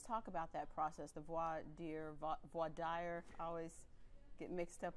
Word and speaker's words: voir dire: Voir dire. Well, it's voir dire is the correct French pronunciation.